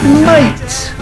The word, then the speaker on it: mate: Mate. 'Mate' is a typical British word that's very common in Australia and some other countries too 'Hello mate!' and once again we don't pronounce the letter T.